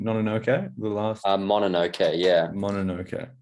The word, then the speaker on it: Mononoke: The Princess, what was the pronunciation? Mononoke? The last? Mononoke, yeah.